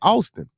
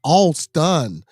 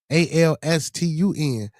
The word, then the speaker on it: Alston: But his name is not Austin. Well, I don't know. He said his name Austin. So we spell it in the group chat Austin, Austin, right? So the mama come back and say, nah, it's Alston, Alstun.